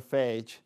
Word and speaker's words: phage: or just phage, or phage. Either one, I've heard it pronounced phage and phage either way.